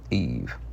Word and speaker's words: Eve: And the English said, "Make it rhyme with Steve." Thus, Eve, a clean, clipped, silven syllable, empty of breath.